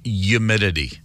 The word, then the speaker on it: humidity: thick in Northwest Arkansas that's a silent h humidity yeah it was wild